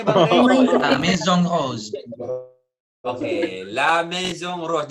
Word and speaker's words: La Maison Rose: La Maison Rose. Oke, La Maison Rose. Jadi I-nya nggak dibaca, nggak Maison ya. Jadi Maison Rose ya.